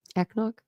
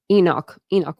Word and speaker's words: Enoch: How do you say this word? Echnock? Enoch Way.